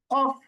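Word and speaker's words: ك: 5 নম্বর মাত্রা জিহ্বার গোড়া হতে একটু আগে বাড়িয়ে, তার মানে জিহ্বার গোড়া ছিল, গোড়া থেকে আরেকটু সামনে মানে একটু সহজ করিয়ে তার বরাবর উপর তালুর সঙ্গে লাগিয়ে আমরা উচ্চারণ করবো হচ্ছে কাফ।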